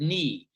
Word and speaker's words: knee: say the final e there are silent letters or the word knee k-n-e-e and that's why some